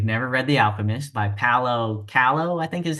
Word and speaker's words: Paulo Coelho: everybody if they've never read The Alchemist, by Paulo Coelho, I think is how you pronounce his name.